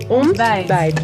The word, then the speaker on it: ontbijt: Ontbijt.